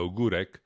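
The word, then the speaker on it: Ogórek: Il suffit de regarder des gens dont la célèbre Magdalena Ogurek, si vous voulez aller la voir, ça s'écrit Magdalena Ogorek.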